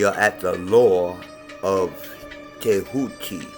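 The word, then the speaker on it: Tehuti: at the law of kehuki here is spelled t-e-h-u-t-i but you may see it also with a d at the beginning jehuti and I actually named my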